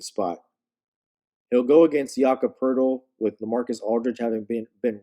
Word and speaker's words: Poeltl: And if you don't know who I'm talking about, it looks like his name is Poletti, but it's pronounced Poeltl. It's Jakob Poeltl.